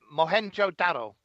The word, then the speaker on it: Mohenjo-daro: was another one as well I can't even pronounce that mo het mohenjo-daro that's right yes I know yeah yeah most